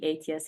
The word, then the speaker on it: ETIAS: Sometimes I prefer it as ETIAS or ETIAS. The pronunciation change depending also on the language, but it should be ETIAS in principles.